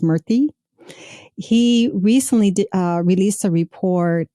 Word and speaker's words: Murthy: I think his last name is pronounced Murthy.